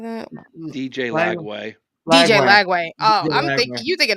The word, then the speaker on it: DJ Lagway: DJ Lagway?